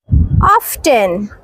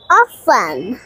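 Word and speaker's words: often: resto সেস এটা হবে না হবে না সো উচ্চারণটি হবে না হবে স্যাচ স্যাচ অফটেন অফটেন এটি কিন্তু হবে না হবে অফেন অফ ইন্টারেস্টিং ইন্টারেস্টিং এটা ভুল উচ্চারণ এটা হবে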